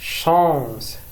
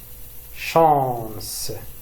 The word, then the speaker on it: chance: chance chance سي إذا كان أمامها أش تنطق ش. chance بالشين. chance والحظ.